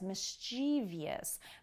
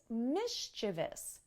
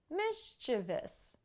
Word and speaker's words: mischievous: no good is mischievous many native english speakers actually mispronounce this word as mischievous but it's mischievous mischievous you might have a child